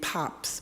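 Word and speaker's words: Pabst: baseball there was a famous bear named pops but it wasn't spelled like p o PS it was spelled p a b St so they kind of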